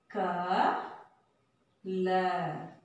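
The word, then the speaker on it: कल: So the last letter la, but we pronounced it by ill. How? Why? So because there is no long sound at the end of the word ma. And the a sound will not pronounce there. So we have to pronounce this letter ill.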